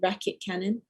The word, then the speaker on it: Raketkanon: And then also like this band, unfortunately they've broken up now, but they are a band from Belgium called Racket Cannon. It's spelled, I'll tell you how to spell it.